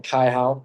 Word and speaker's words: Kaihao: So first of all, I'm saying my name correct. Kaihao. It's Tongan, not Peru.